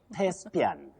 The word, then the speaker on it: Thespian: This is Thespian. Willice, how do we go about this word? Now, Betty, for that word, what we should avoid is using the voiced sound the, just like in this.